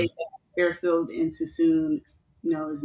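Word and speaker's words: Suisun: It's the Sassoon Fairfield district.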